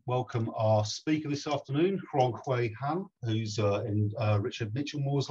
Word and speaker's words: Rongkui: It's pronounced Rongkui. It's like you went the wrong way, but you put a K in it, Rongkui.